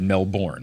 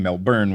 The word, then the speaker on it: Melbourne: try to come to Melbourne I had said Melbourne which I know is very wrong I was sorry I was pronouncing it the way you spell it then I quickly converted to saying Melbourne which I have been told is like more